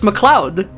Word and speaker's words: Mloud: Yeah, that is apparently how you pronounce it. It's Mloud.